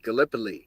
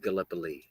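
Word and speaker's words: Gallipoli: Galipoly. And we pronounce it Galipo. Galipo.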